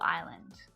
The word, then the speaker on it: island: The storm left debris and damage across the whole island. What letter is the common silent letter there? It's that S. It's silent in words like island, debris, isle even.